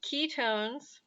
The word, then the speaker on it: ketones: has a h4 hydrogen i like to think of ketones it sounds like the word key so if you remember